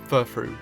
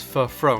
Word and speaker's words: Furfrou: So when I first looked at this Pokemon's names, my first thought was Furfrou. Nice and simple. However, I then thought a little bit about the pronunciation when I saw that the second part of the name was spelt F-R-O-U.